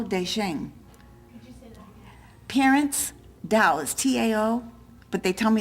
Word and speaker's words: Tao: Parents Tao is T-A-O, but they tell me it's pronounced Tao.